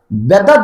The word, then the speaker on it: বেদাত: বাংলায় যদি আপনি বানান করেন তাহলে ব একার দ আকার ত, ব একার দ আকার ত, বেদাত।